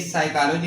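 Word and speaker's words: psychology: जैसे हमने कहा है कि साइकोलॉजी में यहां पे पी साइलेंट है।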